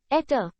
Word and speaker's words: eta: for efficiency in ether the Greek letter ether pronounced ETA thus in symbols conversion